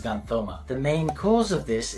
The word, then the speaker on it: xanthoma: This is called xanthoma. It's written as yellow tumor and pronounced as xanthoma.